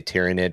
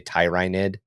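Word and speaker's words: Tyranid: of understand that we're not supposed to say Tyrannid. We're supposed to say Tyrinid. I'm never gonna do it, but I understand that since it's the planet of Tyrannis, it makes more sense for it to be the Tyrannids, not the Tyrannids.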